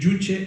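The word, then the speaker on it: Juche: se escribe con zeta pero la pronunciación es jutge sería más cercano a la jota pronunciada en inglés you pero significa básicamente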